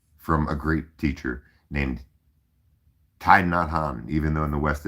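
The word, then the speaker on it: Thích Nhất Hạnh: us have learned from a great teacher named Tai Nadhan even though in the west it's pronounced Tiknadhan.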